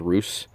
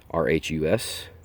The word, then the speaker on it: Rhus: with the genuses uh i believe it's pronounced roos rhus this one has a few